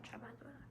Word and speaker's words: trabajadora: trabajadora. How do you pronounce the J? Just No. haha. It's like in like jalapeno, Oh, trabajadora.